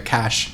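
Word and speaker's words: QASH: time they did the own ICO with the cash q yo Q a sh token which I'm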